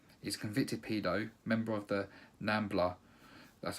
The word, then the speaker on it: NAMBLA: He's a convicted pedo, member of the NAMBLA, that's how you say it.